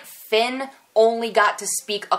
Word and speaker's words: Fionn: In the interview, it was just Harry and Finn. And yes, I heard that's how you pronounce his name. The O is silent, but I still want